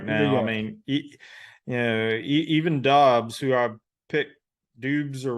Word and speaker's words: Dobbs: Yeah, Dobbs, and I believe that I've heard the correct pronunciation is Dobbs. I don't know what that U's doing in there, but yeah, man, how you feeling?